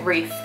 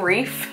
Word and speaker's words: wreath: this two pounds grief wreath sorry wreath I've never known how to say that until recently I learned how to say this one's pretty recently I keep saying reef like the Great Barrier Reef it's not a reef it's a breed that's my